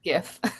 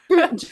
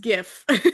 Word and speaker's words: GIF: to say I love that you say it gif because that's how I say it too. Even though the creator is like, "Oh, it's GIF." I stubbornly like, "No, no, no. GIF."